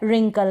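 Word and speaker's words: wrinkle: आपको पता चल गया होगा कि डब्ल्यू आर को हम र पढ़ेंगे। डब्ल्यू इसमें साइलेंट रहेगा।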